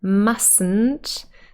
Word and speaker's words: mustn't: a silent l and when we say must not in contracted form mustn't that the first is actually silent as well and some